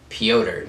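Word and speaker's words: Pyotr: but peter yon in in russian or pyoter that's how you say his name which i learned during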